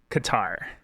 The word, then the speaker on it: Qatar: Also, off of Google, pronunciation of Qatar. Qatar.